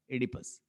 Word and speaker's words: Oedipus: सो इडिपस, अब एक और बात याद रखिएगा, ये जो ओ है ये साइलेंट है, और आपने यहां से प्रोनाउंसिएशन इसकी स्टार्ट करनी है. इडिपस क्या है इसकी? Oedipus.